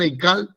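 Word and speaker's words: היכל: Donde vean Eical, pronúnciela como Eical en hebreo, porque no tiene una traducción.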